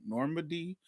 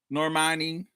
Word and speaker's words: Normani: Armani Normani is there is it Normani or Normandy how do you say her name Normani um yeah yeah Monique give Normani Greg